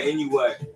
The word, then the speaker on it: Inoue: Prime Rigo versus Inoue. Is that how you say it? Yeah, Inoue.